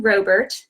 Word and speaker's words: Robert: page my name is Robert - pronounced with a long oh in case anybody was wondering Robert I'm owner of after